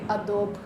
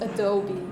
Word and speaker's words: Adobe: about programs you use please never say Adobe because it's Adobe guys um and that word